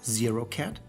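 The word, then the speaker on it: ket: The symbol is pronounced 0-cat.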